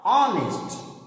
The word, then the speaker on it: honest: But the pronunciation of this word is a, honest.